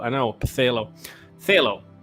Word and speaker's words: Phthalo: Pthalo. Pthalo Blue, King Lewis. That's right. Love how weirdly that word is spelled. I know. Pthalo. Phthalo. I believe it's a silent P.